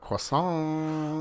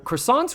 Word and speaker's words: croissant: Croissant.